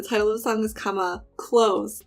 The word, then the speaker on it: 감아: When you naturally say that word, the vowel sounds in this are ahs, which is very like open, especially since the second syllable, there's no ending consonant. So it just like is very open and goes out.